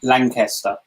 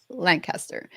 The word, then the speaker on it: Lankester: sure i don't um lancaster lancaster yeah somebody in my family tree can spell obviously so it should be lanky and the reason that